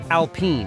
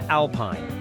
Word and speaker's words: Alpine: Now, since Alpine is French, pronounce it Alpine rather than Alpine, and that's how she achieved that featherweight figure.